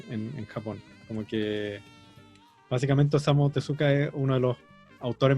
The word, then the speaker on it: Osamu Tezuka: La pronunciación como japonesa no se pronuncia la U. Sería Sería como Osamu Tezuka.